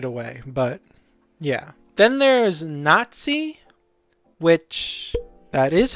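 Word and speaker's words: Natsai: learned them straight away but yeah then there's Nazi which that is how you pronounce her name okay uh so um I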